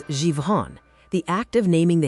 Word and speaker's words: Zhifon: In the Paleo language of Zhifon, pronounced as Zhivon, the act of naming the hidden snare is the act that finally breaks it.